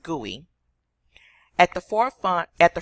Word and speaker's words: GUI: number three creation of graphical user interface pronounced GUI at the forefront at